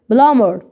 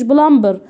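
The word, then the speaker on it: plumber: اقول بلمر اقول ايه بلامر ما قلتش بلمبر بقول بلامر هنلغي دي اكنها مش موجوده خالص. اقول بلامر اللي هو السمكري.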